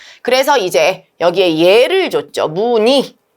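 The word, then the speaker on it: 무늬: 그래서 무니로 발음해야 되는데 두 번째 원칙에 따르면 무의이도 가능하다. 그죠? 그래서 무니로도 무의도 가능.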